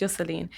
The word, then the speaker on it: Yoselin: And so my name is spelled Yoselin. Yeah. I mean, it's pronounced Yoselin.